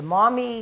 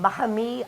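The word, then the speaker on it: Maumee: mommy river which the mommy where it is here in the mouth of toledo that's called the mahame of the lakes and it it actually because nobody can pronounce it call it mommy now there's always been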